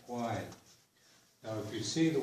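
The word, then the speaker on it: Haida Gwaii: And then the double A-Y is like the I and lie, Gwai.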